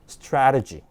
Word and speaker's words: strategy: 그래서 에 발음으로 내시면 돼요. 한번 읽어볼까요? strategy.